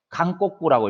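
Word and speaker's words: 韓国: 강꼬꾸라고 읽습니다. 강꼬꾸. 한자는 동일한데 나라에 따라서 읽는 발음만 다른 것이에요.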